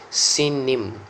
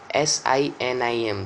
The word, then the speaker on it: Sinim: The Sinites, the Hebrew pronunciation is Sinim. Sinim, Sinim.